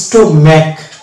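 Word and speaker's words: stomach: তারপর হচ্ছে স্টোম্যাক, হ্যাঁ, স্টোম্যাক, এই জায়গাতে এইচ কিন্তু সাইলেন্ট থাকছে, স্টোম্যাক। এবং শব্দের শেষ হচ্ছে এটা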